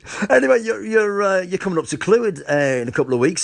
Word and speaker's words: Clwyd: Your pronunciation of Clwyd is spot on, actually.